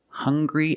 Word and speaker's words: hungry: Also, we have these two words, hungry and hunger. They also make the same sound with the nasal sound and the hard g.